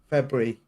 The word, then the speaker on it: February: But thank you for having the R in it twice, actually. February, Yeah, February. as opposed to February, which is a common American pronunciation.